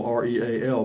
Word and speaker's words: Real: an incorporated area not a town you pronounce real the correct way texas texas takes a true texan to know that yeah it's called real county it's it's spelled real r-e-a-l but it's pronounced real yeah thank you hellcat granny good